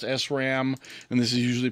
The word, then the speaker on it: SRAM: rams and dynamic rams and this is usually pronounced sram and this is usually pronounced dram although some